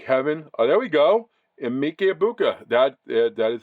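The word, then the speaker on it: Emeka Egbuka: Emike Ibuka.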